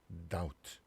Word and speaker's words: doubt: 그 다음에 자, B가 묵음이 되는 경우인데 자, 읽어볼게요. 자, that. 그다음 doubt. 자, 지금 보니까 이렇게 B가 발음이 다 안 되죠.